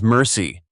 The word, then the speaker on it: MRSI: Multiple rounds simultaneous impact, MRSI, pronounced by crews as mercy.